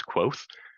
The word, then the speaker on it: Kvothe: For example, another time that's useful, in my favorite book, the character's name is Quoth, and it's spelled Kvothe.